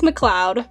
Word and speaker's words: MacLeod: pronounce his last name i always thought it was mac mcleod or something when i was when i was younger but i think it's mcleod correct me if i'm